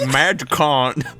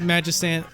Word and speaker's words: Magicant: I personally think more sense if you call it Magicant. More sense. I think it makes more sense to pronounce it Magistant because, like, magician, you don't say magician, Well, you could, but you get laughed at.